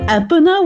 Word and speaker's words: Epona: It's Epona.